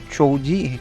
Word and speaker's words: Choji: Choji Choji. So, yeah, that's how I that's how you pronounce his name.